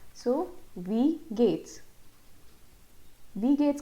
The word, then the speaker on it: wie geht's: Wie geht's का pronunciation है we English में जैसे हम we बोलते हैं वैसे ही हमको ये word pronounce करना है wie geht's, wie geht's.